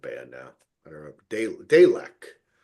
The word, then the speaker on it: Dalek: Delech. Uh, I guess is how you pronounce like the like the Doctor Who thing. Oh, yeah. Daleks. Y Dalek. That's how you pronounce it.